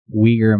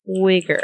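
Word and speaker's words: Uyghur: It does look Weaguer Muslims. Spell that like W I E G R. I don't know how you spell it to be honest with you, but something like that. Weaguer. Weaguer. Mm. No wiger, right? Oh, no. It's spelled with a U. Ui G H E. Ui G H U R S. I don't think I've ever seen it spelled.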